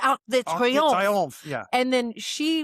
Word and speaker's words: Arc de Triomphe: And then, what is this? Arc de Triomphe. No. It is the Arc de Triomphe.